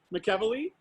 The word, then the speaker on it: McEvily: last name so much mcevil ii right did I get it yeah very good you know I always want to put the accent on the wrong syllable Paul Micheli he's the